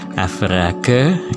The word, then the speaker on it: average: fungsi atau rumus avr sama dengan avrage gitu ya tulisannya average bacanya kemudian kita blok begini